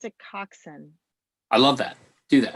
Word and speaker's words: Koczan: knows see who knows so i'm going to pronounce it coxson i love that do that that's what i